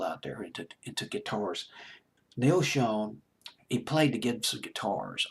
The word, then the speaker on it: Schon: Jonathan Cain, song written by Steve Perry, of course, and Neil Schon, I believe is how you pronounce his last name. The German pronunciation is Schon. It's a German word, I think, but it's Schon.